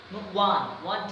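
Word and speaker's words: one: সো এই যে uncommon, your উচ্চারণ আ হয়েছে, এটা ভাওয়েলের উচ্চারণ হওয়ার কারণে এখানে আমরা এন বসিয়েছি। আরেকটা হচ্ছে গিয়ে ওয়ান টাকা।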